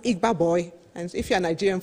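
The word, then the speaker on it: Igba Boi: nigerian entrepreneurship scheme and i think it's pronounced igba boy and if you're a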